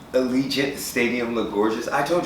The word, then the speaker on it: Allegiant: i did that you finally said it right allegiant stadium look gorgeous i told you i just